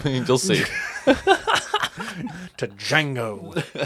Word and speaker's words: Django: To Django. The D is silent.